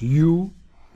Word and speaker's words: U: U, en anglais, ça se prononce You.